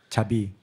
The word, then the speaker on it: 자비: It's actually a Chinese word, chabi. It's pronounced in Korean, but we can write it in Chinese character.